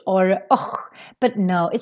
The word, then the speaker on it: och: Because if you read this, you might think that it should sound like osh or och.